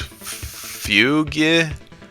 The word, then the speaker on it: Fugue: Rool, Snakey Chanty, Funky's Fugue. I don't know how you pronounce it. Fugue or just Fugue, like you don't even pronounce the U and E.